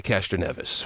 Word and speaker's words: Castroneves: And all I know is in watching him in the little Indy 500 world, he goes by Castroneves. Okay. But, hey, if you have a different alternate pronunciation, then you go with it.